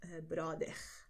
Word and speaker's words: bróder: Okay, und das sagt man vor allem in Rio und dort die Aussprache ist nicht wie meine, dort wäre Brother.